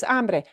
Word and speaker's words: hambre: And now we're going to look at the other word that people do again mispronounce it. It also starts. This is hambre, hambre, Hambre.